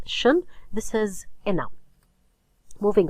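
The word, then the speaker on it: -tion: Okay, but as far as grammar is concerned, when you have a word that ends in tion or sion, pronounced as shun, this is a noun.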